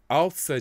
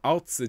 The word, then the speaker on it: Außer: That little symbol there that looks like a capital B, that's the SZ, and that's pronounced with quite a harsh tss at the front of the mouth.